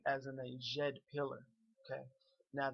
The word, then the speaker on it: Djed: like as in a Jed pillar okay now this DJ DJ is pronounced like a soft J like a letter J in English Okay so if you